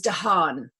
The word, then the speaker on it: Dahan: it, but it's Tu, and the surname is Dahan.